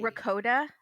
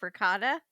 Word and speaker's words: ricotta: ricotta instead of ricotta.